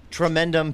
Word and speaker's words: Tremendum: How do you pronounce it? Tremendum Pictures. Tremendum Pictures, Yes.